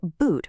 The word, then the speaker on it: boot: But hundreds of years ago, the word boot was actually pronounced more like boat. Yeah, boat. The oo spelling made total sense for that long O sound. But then the Great Vowel Shift happened. People started saying boot, but nobody ever went